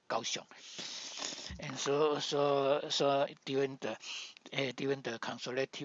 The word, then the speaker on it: Kaohsiung: So after Japanese come to send the troops to Taiwan, especially they come to Kaohsiung, and Kaohsiung in that time they heard the